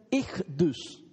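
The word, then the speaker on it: Ichthys: Esas letras en griego se pronuncian Ichdus.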